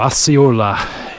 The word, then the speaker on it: Osceola: At least that's what one of the older gentlemen that I came across on the trail pronounced it as. So Osceola it is.